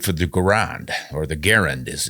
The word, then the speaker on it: Garand: than they could for the Garand, or the Garand as it's pronounced, I believe.